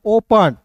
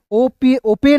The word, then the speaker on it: open: PEN, तो इसे पेन नहीं पन, ओपन, ओपेन नहीं पढ़ते, ओपन पढ़ते हैं, क्लियर है।